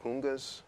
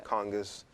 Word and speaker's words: conga: i was playing are called khungas or congas um i just say kunga because it's more of an african pronunciation um they are west